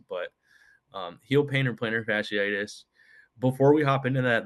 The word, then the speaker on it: fasciitis: Again, it's plantar fasciitis or heel pain. Try to But spell it.